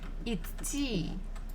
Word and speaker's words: идти: So we have letter D in the middle. идти. But it's a little bit difficult to pronounce two consonants together when one is voiced and the other one is devoiced. Идти, идти. So basically, when I'm pronouncing it, or when Russian people are pronouncing, we kind of don't say the. So just say идти, идти, идти.